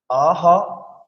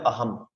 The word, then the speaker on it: অহং: যেমন অহ অনুসার, তাহলে বাংলা উচ্চারণের ক্ষেত্রে এটা অহং, কিন্তু সংস্কৃত শ্লোক উচ্চারণ আমাদের বলতে হবে অহম। অহমও বলা যাবে না, ময়ের অর্ধেক, কারণ মর নিচে হসন্ত।